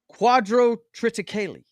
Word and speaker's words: quadrotriticale: Quadrotriticale. What? Quadrotriticale. Yeah, that's how it's pronounced.